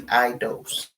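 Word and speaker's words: αἰδώς: It's spelled A-I-D-O-S. It's pronounced I-D-O-S-E, eidos.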